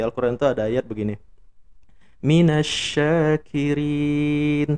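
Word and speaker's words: مِنَ الشَّاكِرِينَ: Minasyakirin, pakai shin. Nah, itu artinya orang-orang yang bersyukur. Kalau kita nggak ngaji, terus kita sembarangan bacanya, kita baca jadi minasakirin pakai sin, maka artinya berubah jadi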